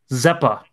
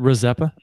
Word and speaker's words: Rizeppa: Zeppa. Isn't it Rizeppa? Yeah, the R is not silent. I've always heard the R pronounced.